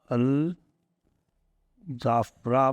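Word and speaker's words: Al Dhafra: अल जाफरा मतलब DH लिखा जाता है, बोला जाता है जाफरा, अल जाफरा।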